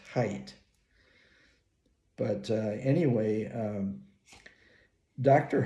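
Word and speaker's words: Haidt: mental illness by Jonathan hate oh I understand he actually pronounces his last name as height but uh anyway um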